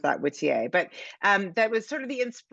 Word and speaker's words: Whittier: So this little town, and you say in your acknowledgments that there's a Whittier, Alaska, or what do they pronounce that? Whittier, but that was sort of the inspiration for this.